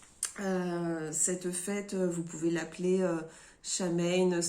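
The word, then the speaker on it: Samhain: fête vous pouvez l'appeler chat mène tout dépend comment vous allez prononcer la vraie prononciation ses seins win je le dis pas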